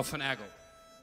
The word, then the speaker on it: finagle: a tune called finagle for naglay however it's pronounced it's finagli oh finagle it's the proper uh pronunciation just so you